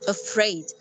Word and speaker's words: afraid: pronounce it like this afraid afraid why because there is something which is called stress and the stress here in this word it's put on the second syllable not the first syllable so we say it